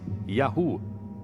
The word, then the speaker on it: YHW: Segundo textos egípcios, um dos lugares onde viviam chamava-se YHW, que provavelmente pronunciava-se Yahu, o nome de seu deus patrono.